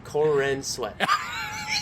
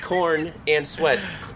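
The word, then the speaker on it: Corenswet: is that his name Corin sweat not corn and sweat but it's pronounced kind of like that same this episode is now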